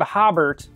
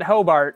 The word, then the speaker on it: Hobart: more time auberg um if you're looking for the city of hobert i have no idea how to help you we call it hobart as far as i